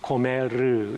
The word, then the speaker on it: 고멜: 고멜. 히브리 발음 그대로 말하면 고메르, 이렇게 발음할 수 있습니다.